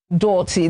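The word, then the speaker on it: doughty: Dirty. Now, this one was very tricky, or is very tricky, because when you're looking at it, you're remembering donuts, right?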